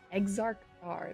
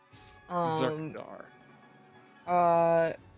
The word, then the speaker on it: Exarch Dar: Exarch Dar. That's how you say it. Exarch Dar.